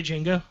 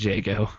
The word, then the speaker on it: Jago: not a hard time versus did you say Django I said Jago not Django the DSi the D is silent all right so here let me let